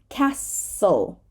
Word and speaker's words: castle: to your file so the silent T is very often found in the middle of a consonant cluster just like the silent P that we already talked about so castle castle we do not say castle